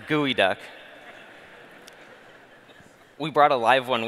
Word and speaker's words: geoduck: While all you geo-geeks at this geo-conference may have thought this is a geo-duck, it's pronounced gooey duck. We brought a live one with us. You want to see it? The gooey duck is a Pacific Northwest